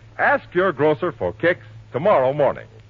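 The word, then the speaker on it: Kix: All right, ask your grocer for Kicks tomorrow morning. That's spelled K-I-X, Kicks.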